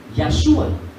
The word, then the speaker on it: Yahshua: Entonces tiene una relación que en el hebreo se pronuncia Yahshua. Yahshua HaMashiach.